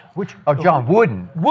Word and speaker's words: Wooden: Are you talking about my John Wooten? The hoop the hooper coach, which Oh, John Wooden.